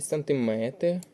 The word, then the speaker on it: сантиметр: варіант Санти тут правильний сантиметр дециметр кілометр і на метр Тут падає у всіх словах наголос на метр правильний варіант запитання 10